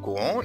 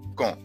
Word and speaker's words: quand: arrive quand نفس الحال، حرف الكي في كلمة quand جه وراه حرف اليو، يبقى بكده حرف اليو لا ينطق، ما ينفعش نقول كون، نقول quand.